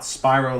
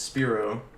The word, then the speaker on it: Spiro: It's pronounced Spro, not Spyro like the dragon from the video game.